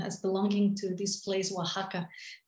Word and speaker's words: Oaxaca: belonging to this place oaxaca i've heard several pronunciations that are some are very strange so i'll just stick with the more uh you know spanish-sounding one continues